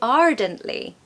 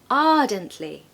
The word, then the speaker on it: ardently: Now I've told you before that we don't pronounce the R, especially if it comes in the middle of the word or at the end.